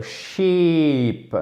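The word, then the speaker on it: sheep: le mouton l'animal c'est ship c'est un i long d'accord donc ça se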